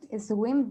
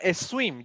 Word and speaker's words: swim: I can't swim very well. No, it's not a swim, just swim.